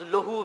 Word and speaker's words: لہو: اس کا تلفظ لہو بھی ہے لیکن اردو میں لہو کہا جاتا ہے, لہو.